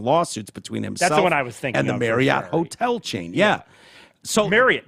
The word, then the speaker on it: Marriott: and it's like it is big misconception on the pronunciation of it really it's Marriot Marriot and you Google it this is like uh Reese's Reese's right yeah controversy so it's marry it and and I've just